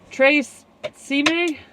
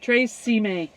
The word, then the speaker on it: Tre Cime: Tre Cime? I think that's how you say it. Tre Cime.